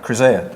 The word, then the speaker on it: Chryseia: How you pronounce it? Chryseia? Chryseia, perfect.